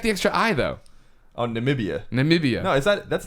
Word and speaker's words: Namibia: passengers went down in niia sorry about that one that's not how you say it but according nambia that's right there you go well see they got the extra eye though oh Namibia Namibia no is that